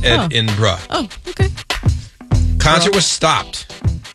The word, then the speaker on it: Edinburgh: concert in Edinburgh no edinb anyway Saturday night she was playing in edinb BR and is that how you say it or you being like a genzer oh says pronounced Ed inra oh okay con was